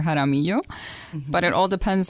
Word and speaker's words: Jaramillo: Some of them, if they're more well-versed in Hispanic pronunciation, they can call me Dr. Jaramillo.